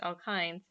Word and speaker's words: alkynes: in the structure and alkynes that's pronounced alkynes contain a triple bond